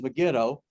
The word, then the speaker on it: Megiddo: miles you may notice i may pronounce it mega doe or megiddo i grew up with negan though but really correct pronunciation is megiddo um again megiddo's about 15 miles east of